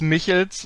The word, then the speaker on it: Michels: Is it Michels? Is that correct? Yeah, it's close enough. It's Michels, like it's the typically Michels, okay. German way to pronounce stuff.